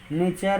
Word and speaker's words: nature: टी के बाद URE आए तो उसका उच्चारण च होता है। जैसे नेचर, फ्यूचर और गेस्चर।